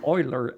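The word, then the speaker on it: Euler: pronounce it correctly uh Oiler I think it's German the the mathematician so er Eric is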